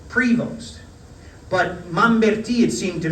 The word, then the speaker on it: Prevost: on the first syllable, Prevost. But Mamberti, it seemed to me, and I've since gone back and checked the tape, he put the emphasis on the second syllable, on Vost.